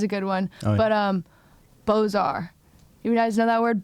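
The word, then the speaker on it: Beaux-Arts: see them and so I always say like bizarre but it's bozar but it's just hard to say.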